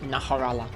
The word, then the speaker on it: Najarala: Kongalala, this one's Najarala. Or as folks constantly told me to pronounce it, Naharala.